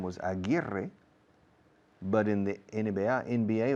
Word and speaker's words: Aguirre: There was a very famous basketball player in the 1970s whose name was Aguirre, but in the NBA it was Aguirre.